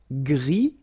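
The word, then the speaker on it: gris: same noir noir okay gri don't pronounce the s but then for the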